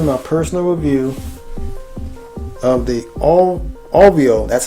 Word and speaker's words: Auvio: Hello folks, and welcome to my personal review of the Auvio, that's how it's pronounced, AUVIO, Bluetooth portable speaker.